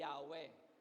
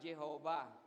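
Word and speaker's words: Yahweh: Ang ah bigkas natin diyan eh Yahwe pero yung iba Jehova pero mas mas common among Christians yung Yahwe.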